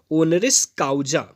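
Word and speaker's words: honoris causa: Pronunciation को फिर से एक बार ध्यान में रखेंगे। इसका प्रोनाउंसिएशन है ओनरिस काउजा। इसको पढ़ेंगे ओनरिस काउजा।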